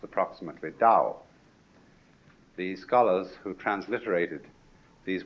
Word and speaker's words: Dao: in English ta AO but by Mandarin speakers pronounced approximately da the scholars who transliterated these words had a